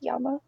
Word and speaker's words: llama: In Spanish, the double L's is pronounced Y. For example, como te llama? It has double L, but it's pronounced llama.